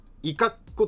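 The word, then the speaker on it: 五十子: でこの頃上杉家がどこにいたかっていうと、伊賀湖という場所があり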